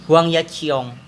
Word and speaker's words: Huang Yaqiong: kalau misal nih karena dan nama atlet namanya Huang yaqiong pakai itu dibacanya apa uang ya Ji Huang yaqiong ya Oh iya aku salah sering salah nyebut